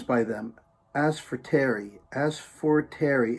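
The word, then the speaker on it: Asforteri: my favorite songs by them as for terry as for terry it's spelled a-s-f-o-r-t-e-r-i as for terry i don't ask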